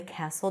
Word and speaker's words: castle: three times on the castle door Castle a castle no T the door SW swung